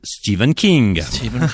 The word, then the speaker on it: Stephen King: Je vais le prononcer à l'anglaise, Stephen King.